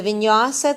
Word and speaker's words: vinyasa: What is vinyasa?